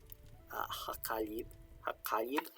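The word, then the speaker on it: Heqaib: And ḥeḳaib is the sort of Egyptological pronunciation of his name used by Egyptologists today. His name in reconstructed pronunciation was probably something that's more like ḥeḳaib, which meant like he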